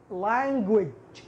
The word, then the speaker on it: language: اللغة تنطق language في الأخير في جيم ولكن مع شين خفيفة language وليست language.